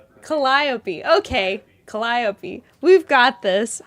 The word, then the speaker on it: Calliope: Collopy. Okay. That's the name of this beautiful beautiful pattern. I'm so sorry, Alex. Google it. He did. It's like I'm emphasis on the second syllable.